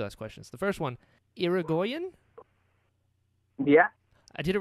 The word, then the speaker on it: Irigoyen: But the correct pronunciation is Irigoyen. Irigoyen.